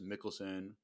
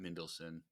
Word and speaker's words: Mikkelsen: It's Mikkelsen. Mikkelsen. I get him wrong every time. It's Lars Mikkelsen, not Mendelsohn.